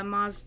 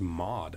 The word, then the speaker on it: Moz: the pizza place uh moz pizza moz they're super good it's right here like diversity moz is it pronounced i thought it was mod mod no no no oh okay i'm live like mozzarella oh my gosh are